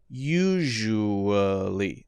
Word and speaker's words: usually: else to write here so sh u and then uh or uh either one and then lee usually now that so that's a very light vowel syllable there uh usually usually usually